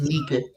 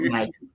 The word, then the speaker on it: Nike: But it's spelled Nike. It's pronounced Nike, not Nike.